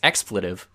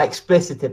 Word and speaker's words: expletive: I I mean, Well, I mean, you just said expletive. It's expletive. yeah. It's certainly not explicitive.